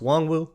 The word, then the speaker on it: Nwangwu: So you got Kene Nwangwu, which, by the way, that's how his name is pronounced, Nwangwu, like honk shoe, which is what he's